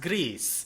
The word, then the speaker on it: Gris: I mean I can I think it's pronounced GRE it's pronounced gree according to Google Translate so if they're Spanish it's gree which means gray like it does in French but in French anyway um so this is a